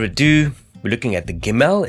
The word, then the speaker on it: Gimel: we're looking at the gimmel it's the third Hebrew letter and this letter originally used to be pronounced as gum and if you look